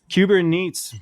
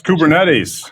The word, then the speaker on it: Kubernetes: this beach thing kubernetes kubernets migration no it's kubernetes cetes well I was